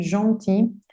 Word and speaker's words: gentil: Si termina en L, como gentil, no pronuncio esa L, gentil, le agrego una L y una E.